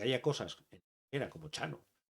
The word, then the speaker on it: Txano: Me hizo gracia en cuanto leí lo primero que dije, Chano, Chano, con TX.